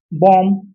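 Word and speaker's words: bomb: चलिए बात करते हैं कॉम, बॉम, ठीक है, बॉम देखो यहाँ पढ़िए, अरे आप पढ़ के देखिए ना, अगर हम बॉम को पढ़ेंगे बॉम बॉम, क्योंकि बी मेरा साइलेंट है, रूल और नियम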